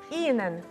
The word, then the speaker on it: Ihnen: От воно йде як подовжене, бо аж воно не читається, воно йде трошки подовжене. Ihnen, так? Ihnen. Wie geht es Ihnen? Wie geht es Ihnen?